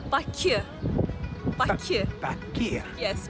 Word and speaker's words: Baku: So you can say Baku. Baku. Baku. Yes, Baku.